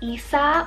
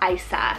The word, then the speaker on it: Isa: I have Isa or Isa, spelled I-S-A. Could be pronounced either way, and it means strong-willed.